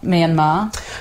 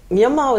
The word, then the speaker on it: Myanmar: a weird name say Myanmar is something that it was always cool but in literature and informal writing it was always pronounced Burma even though it was written Myanmar I've been reading up